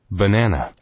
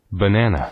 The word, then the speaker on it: banana: 이 단어는 바나나 이렇게 익히시면 안 되고 발음이 banana, 요겁니다. banana, 그러니까 진짜 네이티브한테 바나나 이런 못 알아들을 거예요. 바나나가 뭔지 몰라. 평생 한 번도 안 들어봤어. 바나나란 말을. 뭐만 들었다고요? 바나나. 이것만 들었다는 얘기죠. 그럼 이걸 어떻게 익힐 거냐? 첫 번째 발음부터 익혀요. 버네너다. 뭐 우리말로 하면 1대1 대칭이 되진 않지만 어쨌든 바나나는 아니다. 버나나. 두 번째 강세 여기 있어요.